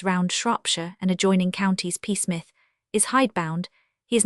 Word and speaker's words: Psmith: Peace. The P is silent.